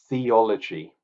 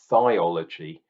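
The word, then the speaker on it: Thiology: Festival wild beer had theology it was called or theology because it's spelled t-h-i-o-l-o-g-y thiols absolutely genius so this was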